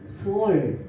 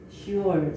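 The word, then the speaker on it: שאול: 그럼 히브리어로 음부는 뭐라고 되어 있냐면은 소울, 이렇게 시올, 소울 이렇게 발음을 합니다.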